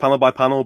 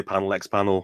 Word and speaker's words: panel x panel: panel X panel and it is pronounced panel by panel but it's just easier to say panel X panel and the URL yeah